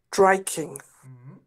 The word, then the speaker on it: striking: striking to strike striking striking get the S at the beginning striking breaking striking that's